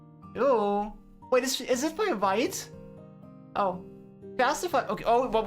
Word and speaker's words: Vite: Vite is French, so it's pronounced Vite.